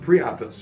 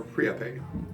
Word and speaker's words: Priapus: Who here is familiar with Priapus or Priape?